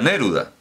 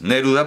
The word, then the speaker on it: Neruda: llama así claro naturalmente no se pronuncia a neruda de jan neruda es neruda porque el checo todas las palabras tienen el acento en la primera sílaba empezando por empezando por